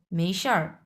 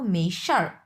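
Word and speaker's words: 没事儿: প্রথমটা মেই হ্যাঁ মেই মেইশার মেইশার হুম শারটা হচ্ছে হচ্ছে চার নাম্বার টন এটা হচ্ছে দুই নাম্বার টন এই শারটা হচ্ছে চার নাম্বার টন মেশার মেশার মেশার মানে হচ্ছে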